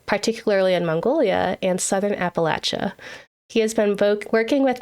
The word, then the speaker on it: Appalachia: And if I forgot to ask, you know, is is Appalachia, is that the right way to say it? Yes. Yeah, you nailed it. Okay. I grew up saying the Appalachian Mountains cuz I'm from the